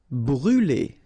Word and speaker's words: brûler: Brûler. Alright, so remember to write this circumflex on the top of U, but then you don't pronounce it, so phonetically it doesn't exist, and it's brûler.